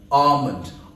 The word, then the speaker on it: almond: chilly so quest chill here the L is not pronounced it's not almond it's almond so it's ah but almond almond oil not almond